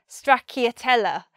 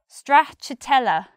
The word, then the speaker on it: stracciatella: to say it so I always said something like I'll have a cone of stracciatella and I was always embarrassed and tried to hide how I was saying it but for today's lesson I found out how to say it and it's stracciatella stracciatella stracciatella cha-cha strapped